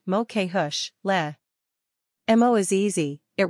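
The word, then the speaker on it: mo chuisle: to start the word the ush part rhymes with push the loo at the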